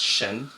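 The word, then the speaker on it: 神: I know the first one in Chinese is pronounced Shen, which means God.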